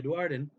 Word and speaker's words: Duardin: The dwarves have had, or sorry, Duardin. I think that's how you say it now. I'm just looking here. Yeah, Duardin.